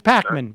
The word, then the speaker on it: Pakman: Pacman yeah okay David pman is an but not on YouTube where is totally different dude okay so you're you're calling to criticize David okay yeah say his name wrong it's Pacman but it's okay it's okay